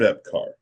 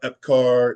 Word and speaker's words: Epcar: Richard Epcar.